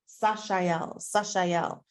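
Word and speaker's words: Sah-chee-el: incredible is a is going to be pronounced s-a-h hyphen c-h-e-e hyphen e l so Sasha yell sashael and in its clear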